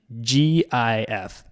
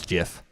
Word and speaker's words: GIF: What is the correct pronunciation? It's the most natural, logical way to pronounce it. That's why when everyone comes across the word for the first time, they use a hard G.